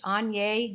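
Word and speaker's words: Aigner: all right next is a pair of vintage anya gloves and yes that's how you pronounce it i actually have an entire course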